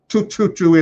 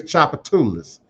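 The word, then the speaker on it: Tchoupitoulas: No, baby, it's not tututu, it's Chapatoulis. We would correct.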